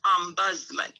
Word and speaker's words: ombudsman: care now the word ombudsman is really a very funny word sounding word and uh it just simply means it's a swedish word and so it's pronounced ombudsman and it simply means